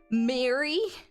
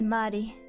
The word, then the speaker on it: Marie: Some people like calling me Mary or Marie. It's Marie because I'm a weeb.